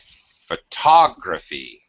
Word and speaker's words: photography: the syllable stress changes so it's photograph and then it's photography and then it's photographic in the adjective form tricky word